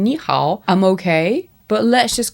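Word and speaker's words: 你好: And the tones for ni hao are up and down, is the best way I can explain it. So I think by saying ni hao, I'm okay.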